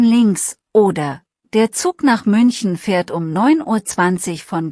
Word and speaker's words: München: Die Umlaute sind wichtig, München hat ein Ü, der Mund ist vorne.